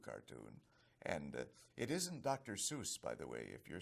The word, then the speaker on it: Seuss: Seuss is the correct, like Joyce or voice. That's the pronunciation of my name." And Theodore Geisel, Theodore Seuss or Seuss Geisel was his full name.